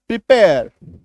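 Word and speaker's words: prepare: software ठीक है प्रिपेयर तो र को अभी देखो मैं लिख दे रहा हूं लिखते समय इसको लिखा जाता है लेकिन बोलते समय इसका उच्चारण नहीं होता याद रखिएगा जेरली ज़ेरली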